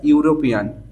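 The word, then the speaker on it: European: আর চারে আছে দেখো সি is dash ইউরোপিয়ান, your মতো উচ্চারণ হচ্ছে, তাহলে এ হবে, মানে কনসোনেন্ট সাউন্ড তৈরি হচ্ছে, তাই না?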